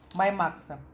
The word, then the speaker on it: My Max: первого с ми Макса маймакса если правильно говорить My Max читается моя Макс это клеточное питание она